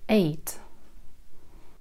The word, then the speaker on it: eight: На конце «т», который произносится на альвеолах. Альвеолы – это бугорочки, которые находятся за зубами. «Т». Eight.